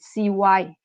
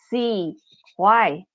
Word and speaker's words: CY: And if you pronounce it CY, it sounds like English, CY.